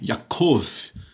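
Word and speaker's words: יעקב: is a consonant, and Note que o iod está no começo da sílaba, então por isso é uma consoante, Ya. the wa is in Agora o vav, Wa, the middle of a syllable está no meio da sílaba, and is therefore a vowel. portanto é uma This vogal? Ficou com som de O, né?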